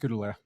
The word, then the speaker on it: Gurule: What is the correct way that we It's pronounced gel.